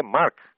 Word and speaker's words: Marques: dialética da afirmação e o autor não é André na com ele é André Marques com m como se fosse escrever Marcos tira o o s só o que sobrar é o nome do homem André Marques Você pode